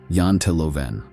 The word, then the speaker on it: Janteloven: There's also a cultural idea called jonttoloven, pronounced roughly yantelovven.